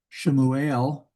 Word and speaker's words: Shemuel: So we have Shemuel, that's Samuel, Shemuel.